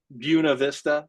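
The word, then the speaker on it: Buena Vista: It's with there's other words like that like uh Buuna Vista in Colorado. That's what everybody calls it. Buuna Vista, but it's of course spelled Buenov Vista.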